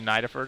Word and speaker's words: Nidifer: to let you know on the pronunciation for Nidifer. It's actually Nidifer.